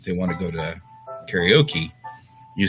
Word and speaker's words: karaoke: Oh, you're a karaoke. That's right. You are a karaoke. Karaoke is another one of those words.